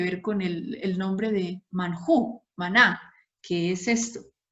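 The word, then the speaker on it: מן הוא: Maná, que en hebreo se pronuncia manjú y significa ¿qué es esto?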